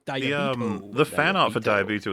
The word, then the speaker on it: Diabeto: way he says it diabo he really pronounces the consonant it's Snappy it's sharp diabo the fan art for